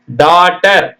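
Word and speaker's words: daughter: டாட்னா கற்பி டீச்சினுடைய past tense டீச்சினுடைய past tense டாட்டர் டிஏ யூ ஜி ஹெச் டி இ ஆர் டாட்டர்னா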